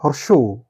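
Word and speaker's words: হ্রস্ব উ: বর্ণটির সঠিক উচ্চারণ হর্ষ হাইপেন উ is equal two হর্ষ উ। অর্থাৎ হর্ষ উ, সঠিক উচ্চারণ হর্ষ উ।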